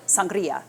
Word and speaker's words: sangria: One of my favorite beverages to make for summertime entertaining is sangria, or depending on where you're from, you might pronounce it sangria, which is probably more correct. But here I say sangria.